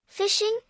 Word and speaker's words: phishing: fishing this is a form of fishing attack where a hacker redirects traffic intended for a particular genuine website to another fake website phishing pronounced as fishing can be done in